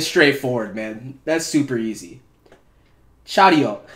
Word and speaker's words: Charyeok: CHARYEOK. That's the pronunciation that I heard.